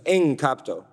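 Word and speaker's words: ἐγκόπτω: a very interesting verb e EG should be pronounced en capto it it means literally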